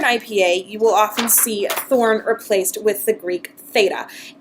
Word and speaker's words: thorn: So words that include this sound are this, that, these, those, gothi, other, and when you pronounce Thorn, you actually don't make a sound at all.